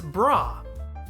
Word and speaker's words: Bra: have to do much work on this it's brah she is named for the shortened form of